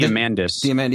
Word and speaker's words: Diamandis: How do you pronounce the last name? Diamantis or But I just pre-ordered that book this morning. Diamandis.